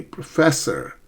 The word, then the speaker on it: professor: It's actually professor, right? The second syllable, there are three, pro, fe, and sir. It's the second syllable that's stressed, professor, okay?